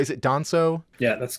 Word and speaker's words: Danso: Is it Danso?